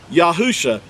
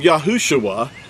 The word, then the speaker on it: Yahusha: Yahusha. He didn't become Yahushua. There was no UA added in this text here.